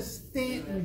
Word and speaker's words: Staunton: is that closest stan the u is silent because if you go to stanton virginia they pronounce it